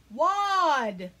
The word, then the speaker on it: wad: spells box ready whoa-ah wad what it does sound like a word like you have a wad of gum in your mouth but that is actually spelled with an A and not an O and I know that's